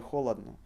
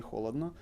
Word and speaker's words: холодно: Мне не холодно. However, Russians would say мне не жарко. Мне не холодно. So they would pronounce it with A.